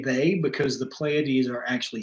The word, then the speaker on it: Pleiades: Pleiades. You know what I'm talking about. So the Pleiades are the two planets, classical planets that they give energy to, and I say they because the Pleiades are actually 7 stars.